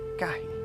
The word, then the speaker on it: gahi: And we pronounce that gahi.